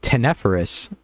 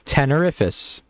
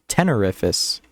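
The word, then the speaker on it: Tenerifis: fan favorite 10 holy i've been saying it wrong this entire time because i've always said tenepherus but yeah now that i'm looking at it it's tenerifus tenerifus almost like terrific yeah i like tenephrus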